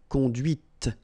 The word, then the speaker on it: conduite: And that's when you hear the difference between conduit, because remember, final T is not pronounced, conduit, here, and then the feminine, conduite. Okay, so here you can listen to this t, t, okay, conduite.